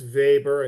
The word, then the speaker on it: Weber: Max Vber, I know it's it's spelled Weber, but it's pronounced Vber.